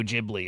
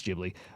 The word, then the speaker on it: Ghibli: I think it's Jibli.